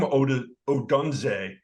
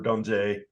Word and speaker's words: Odunze: Rome Odunze. I'm probably not pronouncing that.